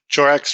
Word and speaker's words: Chorak: Did I say it right? Chorak's right. Yep. Chorak.